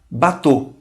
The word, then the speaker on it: bateau: A U é um som muito fácil, pronuncia-se como O. Um O fechado, né? O. Por exemplo, na palavra bateau.